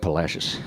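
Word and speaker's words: Palacios: We got Santo and Philippi and we got Palashius which just happens to kind of rhyme with fascist and uh and I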